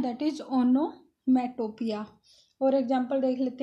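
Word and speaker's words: onomatopoeia: अच्छा, ये figure of speech जो है इसका प्रोनाउंसिएशन होगा ओनोमेटोपिया। ओनोमेटोपिया, ओनोमेटोपिया क्या होता है?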